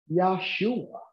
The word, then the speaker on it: Yahshua: amen now thank you so if he was to pronounce Jesus name it's yahshua isn't that interesting so